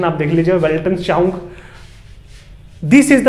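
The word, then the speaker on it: Weltanschauung: वेल्टन, इसके प्रोनाउंसिएशन आप देख लीजिए, वेल्टनश्चाउंग.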